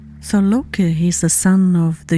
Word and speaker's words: Loki: I should mention that Lok or he's also called Lop or in Old Norse his name is Loki. And here in Sweden and Denmark, he's pronounced or called Lo.